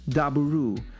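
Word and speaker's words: ダブル: their name coming from the Japanese pronunciation Daburu, meaning double, a clever nod to their 2-in-1 combiner gimmick.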